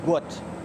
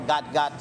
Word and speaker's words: Gout: It's pronounced to rhyme with pout. His name is Guat is supposed to be G u O T. Some when I see people call gut gut, I'm not really happy for it.